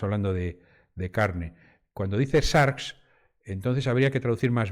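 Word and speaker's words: σάρξ: de la carne porque carne en griego se pronuncia sharks de ahí sarcófago no fagos es comer aquello que se come el cuerpo el cuerpo o Carne no cuando decimos cuando traducimos sars de manera literal como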